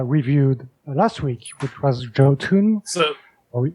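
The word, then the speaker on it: Jotunn: last week which was Jo tun so or Yun if you want yon you you don't pronounce the J whatever and this one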